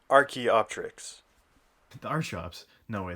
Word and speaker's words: Archaeopteryx: completely butchering that name i decided to look up what the actual pronunciation was and it is the archaeopteryx the art shops no